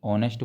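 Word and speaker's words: honest: हम क्या बोलते हैं ऑनेस्ट बोलते हैं तो ऑनेस्ट में एच साइलेंट है तो इसके पहले हम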